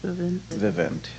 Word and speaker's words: Vivint: Is it pronounced Vivint? Vivint, yes.